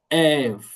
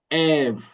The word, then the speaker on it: ev: E, c'est toujours ouvert. Toujours ouvert, n'est jamais muet. Il faut toujours la prononcer, la lettre. Ève. Ève.